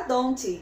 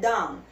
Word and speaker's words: don't: E a gente não vai pesar a pronúncia na letrinha T. Então você não fala don't. Tira esse Tzinho daí. Você pronuncia don't.